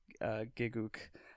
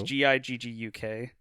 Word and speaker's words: Gigguk: And so one of the popular YouTube channels I follow, his name's Giguk. Probably pronouncing that wrong. It's Gigguk.